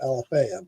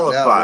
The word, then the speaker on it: Alafia: I pronounce it Alafaya, but There But you it's go. called Now I Alafia.